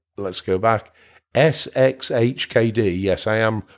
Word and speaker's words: sxhkd: if I got that right let's go back sxhkd yes I am pronouncing it right and in here you should